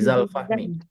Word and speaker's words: Zulfahmi: Kalau dia sebagai aku melihat Zulfahmi, dibacanya bukan Zulfahmi lagi, tapi Zalfahmi. oh gitu. Karena kosakata ini berubah bunyi zuzazi tiga.